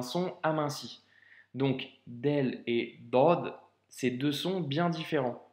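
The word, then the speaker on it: ضاد: Donc aujourd'hui, pour l'avant-dernière lettre de ces cours, on va étudier ensemble la lettre Dod. Donc elle se présente sous cette forme. Comme tu le constates, elle s'écrit comme la lettre Sod, tu vois, hein,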